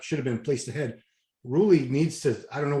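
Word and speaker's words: Roelly: His name is pronounced Ruli.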